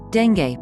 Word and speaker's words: dengue: Dengue, pronounced dengue, fever is a painful, debilitating mosquito-borne disease caused by any one of 4 closely related dengue viruses.